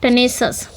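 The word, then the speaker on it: tenacious: Next one पे आएंगे, अगली जो मीनिंग है आपकी टेनेसस, ठीक है, इसको ऐसे प्रोनाउंस कर पाएंगे हम, टेनेसस।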